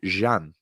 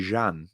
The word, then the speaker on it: Emre Can: Do you know how you actually pronounce this? Jan. Emre Can. It's not Can, Chan, Jan. Turkish.